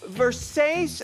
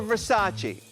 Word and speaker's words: Versace: Now, is it pronounced Versace or Versace? It depends on where you come from.